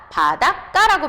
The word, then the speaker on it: 바닷가: 바닷가로 와서 바다 플러스가 그러면 발음할 때 어떻게 발음합니까? 바닷까라고 발음하죠. 그럼 까까까 하고 된 소리로 발음이 되죠.